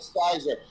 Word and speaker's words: cyser: So it's called Sizer. It's spelled Cyser.